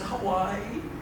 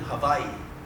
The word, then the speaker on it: Hawaii: And we said, "Hawaii." And she goes, "No, we live in Hawaii."